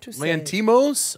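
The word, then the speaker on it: Lanthimos: Can you Google Yorgo pronounce S? Yeah. How do you say Yorgos lanthamos? Yorgos lantimos.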